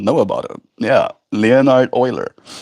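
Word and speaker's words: Euler: Oiler. That's his name. Yeah. Le Leonard Uler, but pronounced Oiler.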